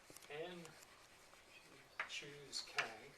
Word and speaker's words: n choose k: you say the symbol so this symbol is pronounced in the following way called n choose k so let me tell you why this is